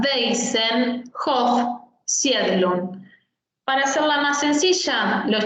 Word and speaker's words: Waisenhof Siedlung: La W en alemán se pronuncia como una B corta. Waisenhof Siedlung.